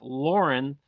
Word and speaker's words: Lauren: Yeah, Ralph Lauren.